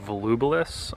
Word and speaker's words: Volubilis: Okay, so we are now at a place called Volubilis, I believe it's pronounced, and this is a site of some ruins.